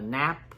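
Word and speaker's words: Knapp: uh Stacy played by Alexis uh nap yeah the K is silent I believe there's Cynthia Rose played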